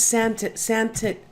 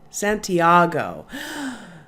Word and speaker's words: Santiago: This is Santiago. It's not Santagato.